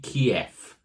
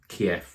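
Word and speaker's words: keif: mka Subzero hop Keef I hope I pronounced ke right it's not k e i t h but it's k e i f so it could be keyf kef it's a type of hot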